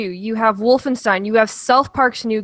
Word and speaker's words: Wolfenstein: It's German. It's spelled the same way for Bernstein. Nobody says Bernstein. No, go to Germany and ask them. They'll look at you like you're an idiot.